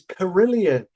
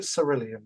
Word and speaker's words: Cerillion: Sir, but it's with a C. It's sir. I pronounce it sir. So, so it doesn't sounds like curillion. Cerillion. Cerillion. Well, we'll call it Cerillion then.